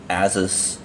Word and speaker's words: Asus: This is the Zen phone by Asus. Some people have said that it's pronounced Asus, like the end of Pegasus.